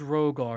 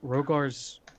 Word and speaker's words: Rhogar: group at this point i knew there was a silent h i knew it there's